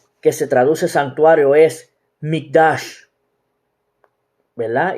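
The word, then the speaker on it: מקדש: La palabra hebrea que se traduce santuario es Mikdash, ¿verdad? Y se escribe M-I-Q-D-A-S-H, que significa lugar santo, apartado o consagrado.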